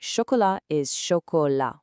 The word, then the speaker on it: chocolat: is buou and finally choka with a silent t at the end.